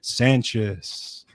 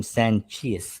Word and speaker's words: Sancious: Uh, and of course I pronounce the name Sanchius because I I'm I'm cheesy, but you know, that's okay. Over the years, it's got many different u most of them are are acceptable.